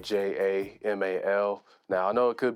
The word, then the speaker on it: JVMAL: It might look like a V, but it's just A upside down. So it's pronounced Jamal.